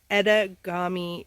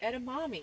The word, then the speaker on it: edamame: what we're having here ettagami mommy what edamame oh i keep mispronouncing it you shouldn't eat things